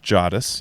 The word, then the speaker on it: Jadis: In this episode, you were discussing why Jadis, and she has a pronunciation here, Jadis, yeah, on the back of Strawberry declares, "Dog unhand our royal charger.